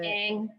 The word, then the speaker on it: Dang: And then finally, is it Dong or how do you pronounce it? Dang, like dang it.